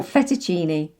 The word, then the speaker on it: fettuccine: borrowed from italian and with these words cc becomes a ch sound ch like cappuccino oh i'd love one thank you or fettuccine i'm not sure what